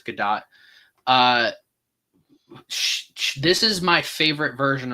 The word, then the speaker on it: Gadot: I always don't know how to pronounce the last name because even a lot of movie reviewers don't know if it's Gadot or Godot. I'm pretty sure it's Gadot.